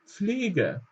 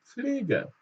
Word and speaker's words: Pflege: Ja, also es wird fast wie ein F ausgesprochen, aber wir bekommen noch leicht dieses P mit. Also die Pflege, die Fliege und die Pflege. Ihr könnt auch dieses P ein bisschen weglassen, aber am besten zum Anfang Pflege, die Pflege.